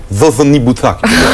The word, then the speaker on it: Kokonibuka: Kokonibuka, ouais, mais j'ai pas le prénom. C'est pas si compliqué que ça, mais en fait on le prononce pas bien. À la fidjienne, c'est Zozonibuta. Vous avez pris des cours de fidjien pendant les vacances.